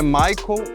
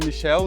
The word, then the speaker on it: Maicon: E aí Olá meu nome é Maicon ou o Michel os dois tá certo é uma questão de pronúncia só é o meu